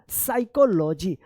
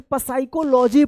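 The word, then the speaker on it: psychology: तो कितने बच्चे जो है ना ये पसाइकोलॉजी पढ़ते हैं, जो बिल्कुल गलत है। हम लोग यही चीज सीख रहे हैं साइलेंट वर्ड्स का सही उच्चारण क्या होगा। तो देख लीजिए यहाँ पे साइलेंट है, इसका रूल है यदि एस से पहले अगर पी आता है तो पी जो है ना ये साइलेंट रहेगा।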